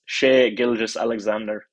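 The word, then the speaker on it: Shai Gilgeous-Alexander: anybody else that wants the full pronunciation it's sh gilgas Alexander but he's we're going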